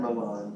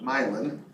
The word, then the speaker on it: Milan: It's pronounced not Milan, but Milan. That's how we do it in Minnesota. Don't go to Milan talking about Milan. You're gonna get run out of town.